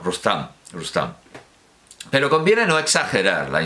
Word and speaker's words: Rustum: traducción de Moll para su Sohrab en Rustum, pronunciado, claro, Rustam.